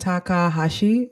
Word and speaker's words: Takahashi: Ant Takahashi. Am I pronouncing that correctly?